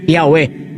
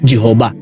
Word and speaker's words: Yahweh: At ayon pa sa Encyclopedia Judaica na ang tamang pagbigkas sa pangalan ng YHWH o sa pangalan ng Diyos ay Yahweh at hindi Jehovah.